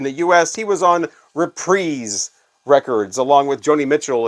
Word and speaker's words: Reprise: U.S he was on reprise records along with Joni Mitchell and Frank Sinatra and Chris Isaac and a bunch of others uh reprise records not reprise the guy who produced